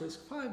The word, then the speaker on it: RISC-V: questions and answers so risk 5 is written like this but it's pronounced risk 5 because it's the v is for the roman symbol for the digit 5 it is an open